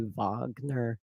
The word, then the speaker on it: Wagner: Yeah, I think the correct spelling would be, or pronunciation would be Wagner, as a reference to the composer that the Nazis liked so much, of course.